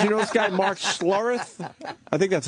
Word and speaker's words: Schlereth: Travis, you know this guy, Mark Schlereth? I think that's how you pronounce it. It doesn't ring a bell. S-C-H-L-E-R-E-T-H.